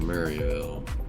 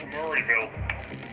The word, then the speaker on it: Maryville: See what there is to see here in Maryville. It's not pronounced Murrayville. I don't know who Murray is, but oh well.